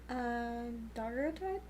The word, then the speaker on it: daguerreotype: this live stream, and converted to, can you pronounce that? Daguerreotype?